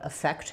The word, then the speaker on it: affect: So yes, these are basically pronounced pretty much the same. So what was the effect? And it won't affect me. They both have the I. And then the stress is on the fect syllable, effect.